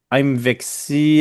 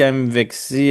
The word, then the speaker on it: MVXY: lui nous dit qu'il faut donc y aller avec une séquence qui ressemble à Mvexy Mvexy MVXY par un dérivé d' sexy.